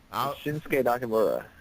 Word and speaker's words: Shinsuke Nakamura: I'm terrible at pronouncing people's names. Shinsuke Nakamura.